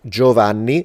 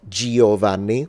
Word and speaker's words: Giovanni: So it's like Giovanni, not Giovanni. That E is not pronounced. It's only there to influence the way the G is pronounced, because otherwise, without that, I would have to read it Giovanni, but it's not pronounced.